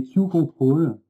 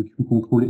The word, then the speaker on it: QControls: Je vais vous présenter un sujet qui s'appelle les queue control. Alors tout de suite pour lever le doute sur la prononciation, on le prononce à l'anglaise et pas à la française, donc on dit bien